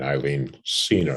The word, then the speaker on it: Eileen Senior: from Hometown, Deborah Ann Roby, Brian Kane, and Eileen Senior. Am I pronouncing that correct, Eileen?